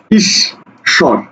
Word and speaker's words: ঈশ্বর: পরের শব্দটা কি আছে পরের শব্দটা আছে ঈশ্বর ইস স্বর দেখো অক্ষর কয়টা অক্ষর হলো দুইটা ইস স্বর ঈশ্বর তাহলে তুমি যা উচ্চারণ